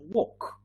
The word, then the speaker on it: walk: walk very good with these two words l is silent so talk and walk yeah yet another example